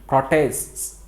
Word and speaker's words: protests: කොහොමද ඒක ශබ්ද වෙන්නේ? protests. අන්න එහෙම double s pronounce වෙන්න ඕනේ. මෙතන මේ s එකක් අන්තිමට තියෙන විරෝධතා කියනකොට protests. අන්න එහෙම ශබ්ද වෙන්න ඕනේ.